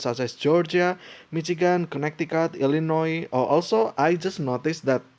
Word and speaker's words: Illinois: then uh it's just it doesn't pronounce the s for whatever reason other Florida or Florida